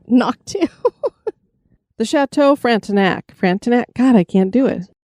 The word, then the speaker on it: Frontenac: I think it's actually Frontenac. Frontenac? Well, I mean, the pronunciation guide was more knack than knock, but I want to say knock too. The Chateau Frontenac.